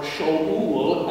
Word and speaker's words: Shaul: Not that that's a good thing, but that may have been Saul's motivation in saying, don't call me Saul or Shaul, as it would have been pronounced.